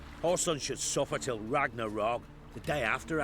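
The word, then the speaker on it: Ragnarök: son should suffer till ragnarok the day after actually it's a double o it's a long o sound it's what i do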